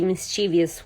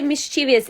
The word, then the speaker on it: mischievous: And Yvette, you and my sister are the same age, the crazy mischievous one. Or actually, I mispronounced that word. People always say mischievous. It's not mischievous, it's mischievous.